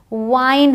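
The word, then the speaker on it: wine: विन होता है बट डब्लू आई एन ई वाइन होता है यह ट्रिक है आपके लिए ध्यान रखिएगा जब भी ई लास्ट में है तो आप खींच के बोलते हैं तो वो केप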